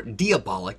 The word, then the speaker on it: Diabolik: 1968 Italian film danger diabolic or diabolic as it's pronounced in Italy because I've never seen